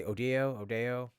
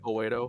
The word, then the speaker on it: Oedo: humans as is, because you can obviously probably understand that the place, the cyber city, what's it, how do you say Odeo? No, fucking Oedo, I Oedo.